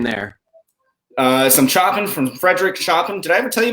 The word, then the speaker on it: Chopin: For which the entire presentation I pronounced his name Chopin without realizing.